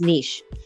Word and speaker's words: niche: Well, if you want to be fancy or formal about it, it's niche. But if you want to be American, it's niche.